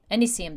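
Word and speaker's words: Pimpinella anisum: There's at least 2 anise oils that you can get, and so we want Pimpinella acinum, anisium, that's how you say it.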